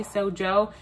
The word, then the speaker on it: Sojos: Some people say Soho, some people say Sojo.